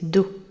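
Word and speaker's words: Dow: Do est le nom de leur espèce, prononcé Do, D-O-W, pour la prononciation.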